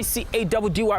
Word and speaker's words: Caddy: Your boy C-A-D-D-Y pronounced Caddy.